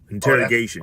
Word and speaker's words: interrogation: Interrogation. Oh, that's how you say the word? Yeah, that's how you say it. Interrogation. I thought I had it right. You know what I'm saying? It's but okay. It's interrogation. That's how you say it. That's it's exactly how you say it.